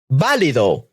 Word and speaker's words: válido: Esdrújulas have an orthographic accent placed in the antepenultimate syllable or third from the end syllable. These words always have a written accent. Okay, so these are some examples. Válido, valid.